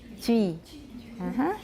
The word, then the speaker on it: Twi: All right, Twi we've been saying, but actually it looks like it should be Twi. Twi.